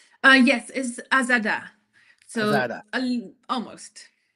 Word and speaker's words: Azada: I pronounced it right. Uh yes is Azada.